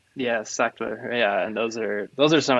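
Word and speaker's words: Sachtler: with a fluid head, and I can never pronounce this vendor's name, but it's Sackler. Sean, is that right? Yeah, Sackler.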